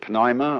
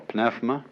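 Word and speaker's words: pneuma: that breath is life the Greek word uh you may pronounce it Pima or pfma uh is the same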